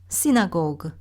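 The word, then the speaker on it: synagogue: 비엔나에 2차 세계대전 이전에 100개가 넘는 유대인들이 기도할 수 있는 기도의 집들이 독일말로 지나고게, 영어로는 시나고그 이렇게 발음하는 집이 있는데요.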